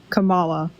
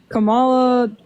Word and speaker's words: Kamala: pronounce her name I don't know how to pronounce her name right it'sa Kama okay Kamala sorry are you good what